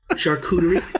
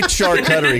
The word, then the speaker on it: charcuterie: uh chartreutery board is how do you say that shark shark charcuterie charcuterie yeah i say char cuttery because i'm a idiot i refuse to say it any other way and i love the